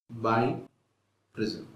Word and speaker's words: biprism: let us talk about premise by prism pronounced by prism other ways we can